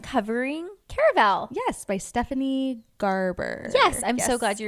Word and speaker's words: Garber: Yes, by Stephanie Garber. Yes, I'm so glad you remembered. I always want to say like garbature. Like I want to add a whole extra syllable. It's not there.